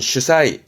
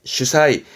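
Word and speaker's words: 主宰: 발음은 슈사이, 슈사이.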